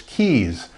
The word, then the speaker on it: Keyes: it or mispronounce it is that Rhea's is that KS no it's keys and then I'll then